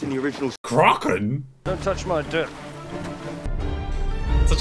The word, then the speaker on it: Kraken: or with a long a crotland zara it's pronounced in the original kraken don't touch my dip such a wide shower